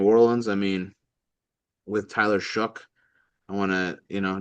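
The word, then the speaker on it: Shough: And New Orleans, I mean with Tyler Shook, I want to, you know, just say that's how you pronounce the name.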